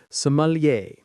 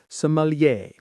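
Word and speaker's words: sommelier: Let's get that pronunciation right as it's another French one. Somalier. The stress is on the end. Somalier.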